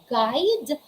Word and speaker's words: guide: all right so again there's the letter u and the letter u comes after comes after letter g letter g then followed by letter u and then after letter u there is a vowel it can be a a e i o u if that's the case you should not pronounce or you shouldn't you should never pronounce letter u what are the examples